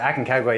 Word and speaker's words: Aconcagua: Pat, what is it like on the summit of Aconcagua? Did I say it right? It's almost as hard to pronounce it. Well, it's not that hard, but a lot of people struggle to pronounce it. Aconcagua, yeah, the highest mountain in South America, highest